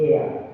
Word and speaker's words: heir: And the last one, the heir.